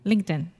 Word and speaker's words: LinkedIn: is the same so sometimes we use a TR te and say linked in most of the time we say LinkedIn okay does that make